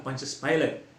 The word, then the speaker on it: Pontius Pilate: Ya, pronunciation yang lebih tepat adalah Pontius Pilate. Tak apalah, kita terima dalam bahasa Melayu Pilate.